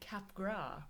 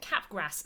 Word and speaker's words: Capgras: have been pronouncing it Capgras syndrome when it turns out is by a French guy so it's definitely cap gras and therefore anyone who